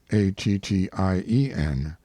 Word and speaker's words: Attien: I have preferred the form found on his tombstone, Attien, because it indicates both the pronunciation and the derivation, for it is not Indian, but the French Etienne, or Stephen.